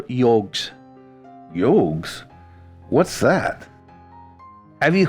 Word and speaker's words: yog: They are the 4 yogs. Yogs? What's that? Have you heard of yoga? Of course. Yoga is a mispronunciation. The Sanskrit word is yog, pronounced yoga.